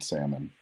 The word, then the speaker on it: salmon: agree with that Carlos in the U.S the L is silent on salmon I know that's probably